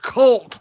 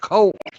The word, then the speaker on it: Cult: Cult of Dusty is pronounced cult, not colt.